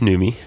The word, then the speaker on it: Numi: you're drinking my greens uh your numi it's newy new organic tea is that Newman's girlfriend that's